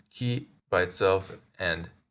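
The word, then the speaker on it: 木: sort of looks like a conifer it is pronounced Ki by itself and moku in compounds then if we add a small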